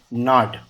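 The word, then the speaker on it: gnawed: द माइस, ये ना जो होता है ना, जी साइलेंट होता है इसमें, है ना, ऐसा होता है ना, और इसका सेकंड फॉर्म में ईडी लगता है, नाड।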